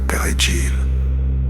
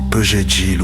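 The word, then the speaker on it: perejil: Tuer quiconque ne pouvait pas prononcer correctement le mot espagnol pergil, persil. Les Haïtiens parlant créole disaient souvent Pegil ou Pésil, ce qui les trahissait.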